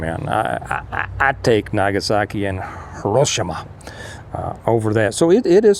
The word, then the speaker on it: Hiroshima: Go back and look and see, how Nagasaki and Hiroshima bounced back from it. Compared, interesting thing that I saw some time back is a comparison of either Hiroshima.